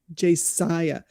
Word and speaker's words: Josiah: Josiah.